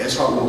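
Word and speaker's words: עשו: 그 에서가 히브리어로는 에사우라고 말합니다. 에사우. 한번 발음해 보실까요? 에사우.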